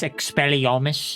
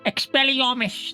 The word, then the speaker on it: Expelliarmus: curse wouldn't you agree is the killing curse expelliomish is that the one Expelliarmus that one no it's a Vatican to everyone